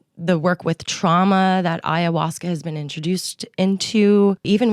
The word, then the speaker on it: ayahuasca: When you see it, you're not thinking ayahuasca. You're thinking ashwa. What? Yeah. Anahuasca, I think is how I said it for a little bit.